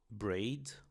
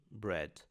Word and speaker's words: bread: A palavra pão em inglês tem o encontro de e com a, mas nós não vamos falar braid ou breed, mas sim bread.